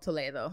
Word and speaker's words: Toledo: So I lived in this little town right outside of Madrid called Toledo. You spell it the same way as Toledo, Ohio. Gotcha. You just say it a little fancier.